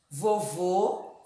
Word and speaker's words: vovô: acento circunflexo vovó aberto vovô fechado o ó e vovó continua ó o quando a gente coloca o acento circunflexo a pronúncia se modifica ele se torna ou ou o som fechado o vovô vovó o